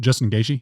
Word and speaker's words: Gaethje: We talked about all of his fights coming up, and I butchered. I can't believe I said the wrong name. Gaethje. What is it? Justin Gaethje?